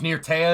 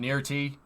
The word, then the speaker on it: Nirtea: Yeah, it turns out that I've been pronouncing his name wrong for like 5 years. That's good. It's Nirtea, it's not Nirti.